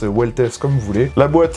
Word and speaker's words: Velites: Donc ça s'écrit Vitess en latin le V se prononce U de ce que j'ai compris. J'ai pas fait latin à l'école et cetera donc m'en voulait pas. On va l'appeler véitess weless comme vous voulez.